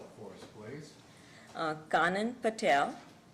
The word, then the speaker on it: Kanan: i'm sorry did the jurors need her to spell it again it's kanan k a n all right thank you good